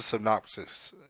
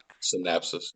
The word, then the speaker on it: synopsis: and also this is a synopsis it's how you say it's not synapsis synapses yeah synapses synopsis whatever trying